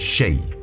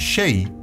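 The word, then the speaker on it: شيء: The closest pronunciation of the Arabic letter composition sh in Old Spanish was the letter X. This consequently led to the transliteration of the word shay into xei, shay.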